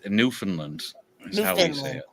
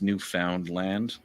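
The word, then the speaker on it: Newfoundland: tpr Finland or Finland it's New Finland okay New Finland New Finland corre technically it's new found land right they just skip across the O and the the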